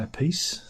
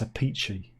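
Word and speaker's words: Appice: Beck Bogart, A Piece. If I drink a lot of coffee, I might have to go for a piece. People say it's not pronounced like that. It's a peachy.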